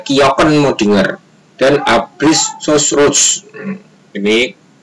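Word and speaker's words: kjökkenmöddinger: mesolithikum adalah kebudayaan kjokkenmoddinger ini ya tulisannya kejo kejo pun modinger Tapi bacanya adalah kjokkenmoddinger dan Abris Sous Roche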